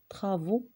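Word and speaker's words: travaux: عندنا واحد المثال آخر ديال أ معها أو مع إكس، ما كنطقوش إكس، كنطقوها كذلك أو، ولكن إذا كانت هاد أ أو إكس في آخر الكلمة لا تنطق الإكس وتنطق أو. مثال ترافو.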